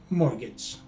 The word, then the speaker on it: mortgage: in the first syllable the letter t is a silent letter t meaning it does not correspond to any sound also note that the